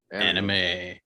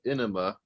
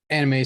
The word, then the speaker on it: anime: That's right, anime. So not to be confused with enema, which is how my art teacher in animation college pronounced it.